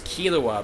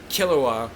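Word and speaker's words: Killua: Hunter Hunter the dub pronounces his name is kilua but it's actually pronounced kilua from Hunter Hunter and yeah that's how it's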